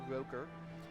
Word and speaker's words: Roker: Sorry, I usually pronounce it Rocker, but Roker.